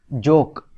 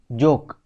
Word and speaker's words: joke: तो इसकी स्पेलिंग है जे ओ के ई लेकिन इसको हम पढ़ते हैं एस जोक तो आप देखो ई जो लेटर है इसका कोई साउंड नहीं है ई इज साइलेंट नेक्स्ट वह कह रहे